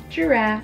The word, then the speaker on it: giraffe: Today we're looking at soft G. Do you know what sound soft G makes? Yes! It sounds like J. Like J. It says J. Let's read this word. Yes. Can you do this? Giraffe.